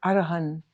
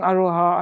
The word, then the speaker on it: Arahan: So since people didn't quite know how to pronounce it, we kind of, people were saying Aroha, Aroha, so we changed it to Aroha.